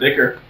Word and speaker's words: ichor: That's because it's pronounced Ichor.